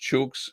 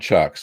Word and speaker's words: chooks: a week or two i think you mean chooks that's in australia's pronounced chooks and they're chickens hens um yeah not chucks that'd be like a woodchuck um but uh yeah